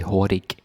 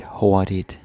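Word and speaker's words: hurtig: okay so this is Hawaii meaning fast or quick okay and yeah the g is silent you don't say the g you don't say horic the g is silent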